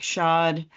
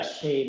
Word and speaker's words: Shade: And now we're going to move on to Shod. Am I pronouncing your last name correctly? is it Shade? Yeah, Shade is in window shade. Yes, it's Shade. Okay. So, not shot.